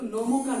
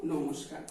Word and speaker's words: নমস্কার: যেমন ধরো নম বিসর্গকার, নমস্কার, এখানে এখানে বিসর্গ বসছে দন্ত স্বরের জায়গায়, কিন্তু আমরা যখন পুরো শব্দটা উচ্চারণ করবো তখন কি বলবো? আমরা কিন্তু নমকার বলবো না, কি বলবো? নমস্কার।